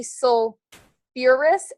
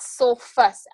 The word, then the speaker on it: sulfurous: Sulfur and um phosphorus are a little weird in that you add back a syllable. So, this is actually sulfurous acid, not sulfus acid.